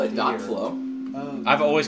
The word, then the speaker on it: .flow: this is kind of weird but it's actually pronounced period flow I'm going to call it dot flow I've always called it dot flow but apparently